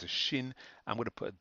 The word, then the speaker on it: Shin: kind of one letter here this is a shin a shin up here this one here we